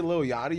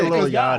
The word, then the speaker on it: Lil Yachty: I say Lil Yachty. No, people say Lil Yachi and I'm like, "All right, do you not know how to pronounce the word yacht?"